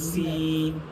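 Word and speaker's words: س: যেমন সদ উচ্চারণ করলে একটু আওয়াজটা মোটা করতেছেন সদ আপনার সিন বলার সময় আপনি কিন্তু আওয়াজটাকে পাতলা করতেছেন সিন খেয়াল করছেন সদ কিন্তু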